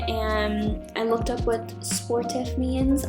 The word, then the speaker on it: sportif: I looked up what sportif means. I am 100% saying that wrong. It is French for athletic, so I'm saying it wrong. It's more like sportif.